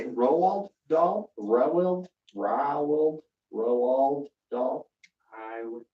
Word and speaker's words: Roald Dahl: Roald Dahl?